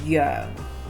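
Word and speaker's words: 羊: And then she goes, because eating lamb, the word lamb is yo in And it Cantonese. sounds like the word for epilepsy.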